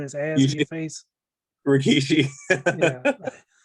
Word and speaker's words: Rikishi: man would be um i probably pronounced it wrong rashiki the guy that literally had to put his ass in your face rikishi like i just couldn't